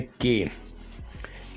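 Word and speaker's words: ka: आप दोस्तों ने सुना स्पेनिश में के को क का पढ़ा जाता है का का का नेक्स्ट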